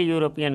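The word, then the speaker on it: European: यूरोपियन कैसे लिखेंगे आप यू यानी य से शुरू हुआ इसलिए यूरोपियन के पहले ए लगेगा ठीक है आगे बढ़ेंगे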